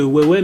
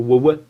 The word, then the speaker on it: Weiwei: Il s'agit de Weiwei mais le Agra. Est-ce que vous pouvez nous en parler? Ou alors, si je puis me permettre, d'abord, ça se prononce plutôt Weiwei.